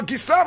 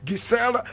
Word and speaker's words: Gisèle: Now Gisèle Rabesahala, full name Marie Gisèle Aimée Rabesahala. Marie Gisèle Aimée Rabesahala. Marie is spelled M-A-R-I-E.